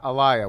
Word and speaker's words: Elia: on the pre-podcast how would you like to pronounce your name uh elia works elia elia and i said elia elia that's completely off yeah yeah but the